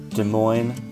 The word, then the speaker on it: Des Moines: Des Moines, Iowa. You just don't pronounce the S.